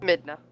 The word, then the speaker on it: Midna: Midna.